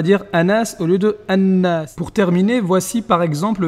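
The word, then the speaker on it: الناس: Il faut bien faire attention à prononcer doublement la lettre qui suit le lam, comme dans ash-shams ou bien an-nas.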